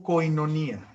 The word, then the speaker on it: koinonía: comunión viene del griego koinonía se pronuncia con ironía y significa comunión significa